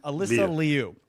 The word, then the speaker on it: Alysa Liu: No, I'm all about you know, honoring the proper pronunciation. Alysa Liu.